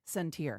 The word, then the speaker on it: Centier: So for people who aren't familiar with Centier Bank, first of all, it's pronounced Centier.